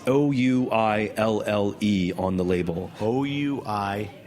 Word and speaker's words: ouillé: Ouille. Pronounce that? Ouille. But the translation, oye, not oive.